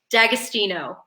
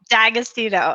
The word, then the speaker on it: D'Agostino: feeling like I don't quite nail the right pronunciation D'Agostino D'Agostino okay I got to remember where the emphasis